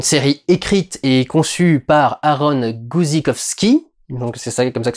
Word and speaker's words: Aaron Guzikowski: by words une série écrite et conçu par aaron guzikowski donc c'est comme ça que ça se prononce se passe sur une autre planète sur